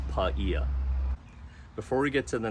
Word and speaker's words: Paia: well and it's pronounced paella I've heard people say paella it's not like that Seafood dish it's paella before we get to